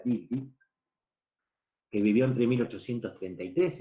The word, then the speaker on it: Dilthey: Un inglés llamado Wilhelm Dilthey, Wilhelm Dilthey, se escribe con TH, con Y, Dilthey, se pronuncia Dilthey, que vivió entre 1833 y 1911, fue uno de los primeros que trató de establecer la diferencia.